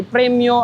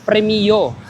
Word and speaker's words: Premio: billing Ayan so guys correction lang ang pronunciation pala ni premyo ay premio or Pwede rin namang